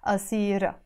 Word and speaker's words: أصيرة: Or we can also say أصيره. But when it comes to this expression, we pronounce it أصيرة.